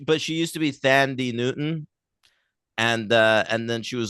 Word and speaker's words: Thandiwe: no, but she used to be Thandie Newton, and then she was like, "Fuck it, I'm not gonna, whitewash my name for you. I'm gonna go full on." Oh, That's how you say it? yeah, Thandiwe.